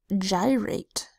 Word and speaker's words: gyrate: the next word is gyrate which means to move in a circle this starts with it gee that makes this off G sound Joe a y that says long I sound I because it's at